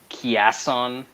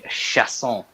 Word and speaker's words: Chiasson: I say this every fight, but why do people pronounce this Chiasson? I mean, be cultured, people. Have a little respect for the words coming out of your mouth. It's Macy Chiasson.